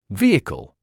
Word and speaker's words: vehicle: The h at the beginning of this word is silent.